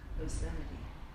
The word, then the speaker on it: obscenity: OB uhen no it's o b s c e n i t y obscenity obscenity yes obscenity where are we